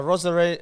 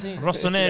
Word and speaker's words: Rossoneri: A Rosaneri. Rosaneri. Rosaneri had. Rossoneri.